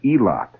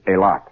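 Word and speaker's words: Eilat: is a tiny settlement called aot e i l a t or elot if you prefer it that way generally pronounced by the people in that area as aot a lot is an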